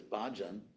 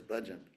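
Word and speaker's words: bhajan: me and who is you've heard this word often pronounced in in America as bajan which actually means a container in Sanskrit anyway the word is budgeon so um devotional act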